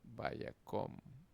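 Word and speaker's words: וַיָּקָם: Si cumple ambas condiciones, la kametz es hatuf. Y se pronunciará como una O. Por ejemplo, vayakom.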